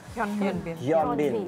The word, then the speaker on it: Hyun Bin: Dan sekarang ini update-update terbaru tentang Hyunbin ya.